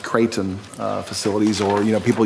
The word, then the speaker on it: Kraton: And so here recently, as mayor, people have been tagging me in a petition and emailing me about, I think it's pronounced Creighton facilities, or, you know,